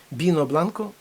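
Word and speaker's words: vino blanco: однаково що будеш пити бінобланко порфавор бінобланко пишеться віно але читається біно бінобланко біле вино будь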